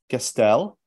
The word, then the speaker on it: Gaestel: joined with joined by Gastel I can't say that as wonderfully in French you say say Gastel properly please wonderful I wish